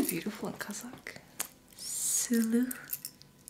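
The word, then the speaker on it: сұлу: Sulu. Sulu?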